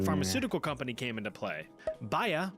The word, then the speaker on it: Bayer: Bayer, or more commonly pronounced Bayer or Bayer, decided to take a stab in the lab to produce something fab.